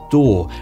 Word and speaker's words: DAW: a digital audio workstation often abbreviated to daw and pronounced door now there are a